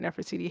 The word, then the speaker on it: Nefertiti: Tyrone says, can I just say how happy I am you pronounced it right, Nefertiti?